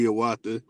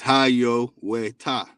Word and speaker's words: Hiawatha: water right here and the proper way to say hiawatha is haiyo ta right and we have